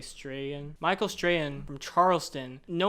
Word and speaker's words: Strahan: Strahan, maybe? Strachan. No, you don't pronounce the CH, I'm pretty sure. I'm going to say Strahan.